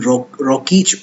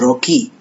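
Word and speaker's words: Rokeach: Some people pronounce it Milton Rockich also, but it's a Jewish name, and I found out that the correct pronunciation is Rocky.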